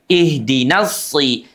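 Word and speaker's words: صراط: Sementara shad itu yang membedakan dengan sin. Makhrajnya sama tapi yang membedakan itu adalah sifatnya. Satu isti'la terangkatnya pangkal lidah. Yang kedua shad itu seluruh permukaan lidahnya terangkat ke langit-langit lengket. Ihdinasi si.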